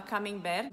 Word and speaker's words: camembert: Camembert tem o T no final e ele não se pronuncia.